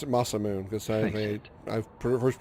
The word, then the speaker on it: Masamune: That's right, I pronounced it Masamune because I first pronounced it when I Turn first your saw back it.